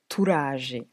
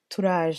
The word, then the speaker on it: Turaje: Le titre de la chanson est Turaje. Turaje qui s'écrit T-U-R-A-J-E.